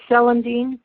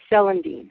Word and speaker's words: celandine: her, I used ginger and an herb called celandine, chelidonium. I'll spell that because it's a weird name, right? The English name is C-E-L-A-N, D as in dog, I, N as in Nancy, E, celandine, or celandine.